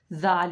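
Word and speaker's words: ذال: Zal, the articulation point is a zal, is again the same. The upper 2 incisor, when the tip of the tongue touches the upper 2 incisor from the lower part. Zal you pronounced.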